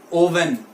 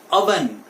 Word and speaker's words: oven: हैं वो बोलते हैं ओवन, right? But इट इज नॉट ओवन, ये ओवन नहीं है, इट इज अवन। The right pronunciation for this word is अवन।